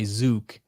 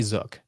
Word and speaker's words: Zook: it as like bazooka they want to say zuk I say zook I say it rhymes with book and look and took it's zook I think